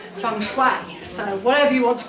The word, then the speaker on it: feng shui: A Chinese man told me off for saying feng shui, no feng shui, I had to say feng shui.